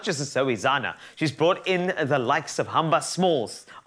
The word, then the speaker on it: Zoe Zana: I want to say her name correctly, because earlier I knew somebody would shout that, Zuzana or something. No, it's Zoe Zana, and this is our lovely showpiece.